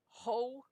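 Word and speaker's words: ὁ: are all rough breathings so they're pronounced with an H sound on them and they're also proclitics they lean forward so they normally have no accent so ho to toe tone Hoy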